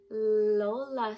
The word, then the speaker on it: lola: we call our grandmas lola what letter does lola start with that's right starts with the letter